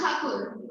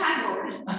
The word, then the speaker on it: Tagore: So real name of the word, it's Thakur. So it's Thakur, and the Britisher does not like sound it. Britishers couldn't pronounce Thakur; they pronounced it as Tagore.